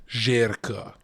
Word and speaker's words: Zherka: that's not surprising Jerka is that's how I pronounced Jericho Albanian uh oh